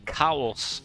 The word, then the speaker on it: CAWS: of a blunder bus Nobody pronounce them like cows, like a crow. Um, I I do sometimes. I used to, now I prefer to say c a ws. Um, cuz I'm weird. It's cows. Okay.